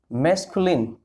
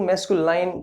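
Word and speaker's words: masculine: सबसे पहले इसके अंदर होता है साथियों मैस्कुलिन। भाई इसको प्रोनाउंस अच्छे तरीके से करें, बहुत सारे बंदे इसको मैस्कुलाइन प्रोनाउंस करते हैं।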